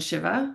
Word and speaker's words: Shiva: You just pronounced two goddesses names, and I would say it Vishnu and Shiva.